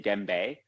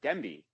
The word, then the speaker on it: Dembe: Some people, well, definitely my Quebec friends, they say Dembe, but he said it right. He said Dembe, and he paused when